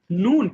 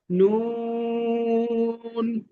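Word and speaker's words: نون: পড়া ধরা হবে ইনশাল্লাহ ওকে তো সবাই দেখুন নুন এখন আমরা যে হরফটি শিখব নুন নুন নুন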